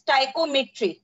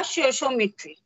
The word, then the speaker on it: stoichiometry: Now, some of you don't know how to pronounce this word. It is also it is called as stoichiometry. कई बार हम इसको सोशियोमेट्री भी बोल देते हैं. It depends. So it is called as stoichiometry या sociometry.